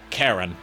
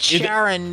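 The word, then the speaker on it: Charon: Yeah, Karen is how you pronounce it. Karen. I keep saying it Sharon because of the way it's Greek, so it would be pronounced Karen.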